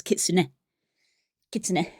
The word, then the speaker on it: kitsune: you do that sort of sound, but no, they literally pronounce the kits because they do the N and the E. So, it's kitsune kits rather than a kitsune, which is how a